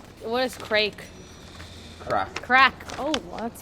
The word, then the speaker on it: craic: what is CR crack crack oh that's spelled differently uh what's the story with